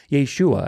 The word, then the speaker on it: Yeshua: it's Joshua God Saves Yeshua Yeshua actually would probably be a closer pronunciation to it and we talk about